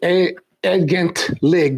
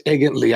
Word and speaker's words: Egentlig: I know it says Egentlig, but it's Egently.